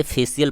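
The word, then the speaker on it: facial: आई एल आ रहा है तो स से उच्चारण होगा, तो इसे फेशियल पढ़ा जाएगा।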